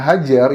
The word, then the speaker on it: HJR: dari pembela kaum lemah hjr dibacanya hajr itu adalah singkatan dari